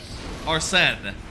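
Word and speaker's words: Arsène: Arnen, that's that's how you say it.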